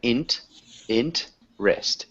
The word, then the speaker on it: interest: interest so got close we have a silent E right here so INT in wrist interest so one more time